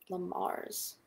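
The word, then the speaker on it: Le Mars: So it's spelled L-E and then a new word, M-A-R-S. Lamars.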